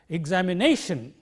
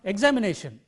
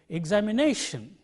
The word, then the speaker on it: examination: look up the dictionary it marks the primary accent of the stress mark here on this syllable because this is the syllable which comes just before shem so we pronounce it like this examination it is not examination it is not examination but it is examination he is a bother